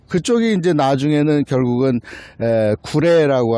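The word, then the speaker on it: 呉: 그쪽이 이제 나중에는 결국은 구레라고 하는 한자로 오나라 할 때 오자를 쓰고 구레라고 읽는데, 그쪽에 이제 결국은 군사기지가 생기는 거야.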